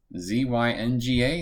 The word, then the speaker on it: Zynga: coming out i believe the way you pronounce the name of the company is zynga z-y-n-g-a zynga uh they are